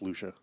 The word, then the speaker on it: Lucia: it should be pronounced Lucia right you're right it is like Trisha yeah I'd never heard